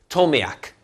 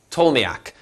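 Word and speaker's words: Ptolemaic: is stability now next told me AK told me AK the P is silent maybe you've heard it with a peep told me AK I always said I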